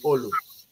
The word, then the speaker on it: Olu: but the right pronunciation is Olu. I'm a Yoruba man.